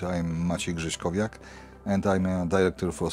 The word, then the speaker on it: Grześkowiak: And according to my name, you did it perfectly. Pronunciation was good. I'm Maciej Grzeszkowiak, and I'm a director for strategic projects and communication here.